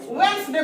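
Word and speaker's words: Wednesday: खैर उसी तरह से जैसे हम हैंडसम में डी को साइलेंट कर दिए, हैंडसम बोले, वेडनेसडे में हम वेडनेस में डी को साइलेंट करके वेडनेसडे बोले, सैंडविच में सैंडविच ना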